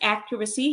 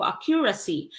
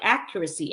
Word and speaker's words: accuracy: you pronounce this as accuracy Hindi accuracy okay but accuracy accuracy and stress now is um on the first syllable so accuracy in the